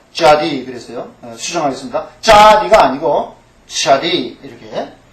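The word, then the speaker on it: צדי: 약해지잖아 그래서 그렇습니다 자 자디 그랬어요 제가 자디 또는 이렇게 꼭 그렇게 들려요 그 본토 발음이 그렇습니다 그러면 제가 연구해볼 때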